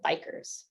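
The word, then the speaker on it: BiCRS: next category is one that we call Bikers so that's how we pronounce This Acronym and essentially stands for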